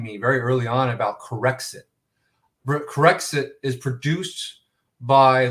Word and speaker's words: Corexit: very early on about corexit corrects it is produced by british petroleum corexic has been banned in britain corrects it is spelled c-o-r-e-x-i-t like it corrects the mistakes right correct sick is a